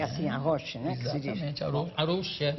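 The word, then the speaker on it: Arouche: Exatamente, Arouxa. E ela tem uma pronúncia muito elegante, ela escande as palavras, sílabas.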